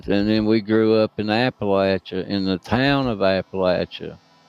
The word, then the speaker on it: Appalachia: Appalachia. and we call it Appalachia. Is that like the proper pronunciation or that's just the local fun way to say it?